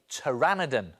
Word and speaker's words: pteranodon: Because when it comes to drawing, T is for pteranodon.